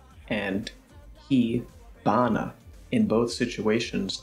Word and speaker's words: 火花: They're pronounced hana bi and hi bana. In both situations, the h sound becomes a b sound.